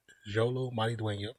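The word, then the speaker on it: Xolo Maridueña: starring Jolo maridueno and I know I'm probably you know americanizing up the the the pronunciation of the main but Jolo Marie dueno is is how I'm gonna say that's how I know how to say it let's get into it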